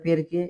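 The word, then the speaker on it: perché: পেরকে পেরকে শব্দের অর্থ হল পেরকে উচ্চারণটা পেরকে এটা কেন হলো এটা আমরা উচ্চারণের ক্লাসে আমি আপনাদেরকে শিখিয়ে দিয়েছি সিচ কখন ক হয় কখন চ হয় এটা আমি শিখিয়ে দিচ্ছি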